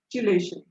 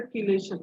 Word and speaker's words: chelation: Third is chelation. Some people pronounce it as a chelation, but I do always pronounce it as a chelation.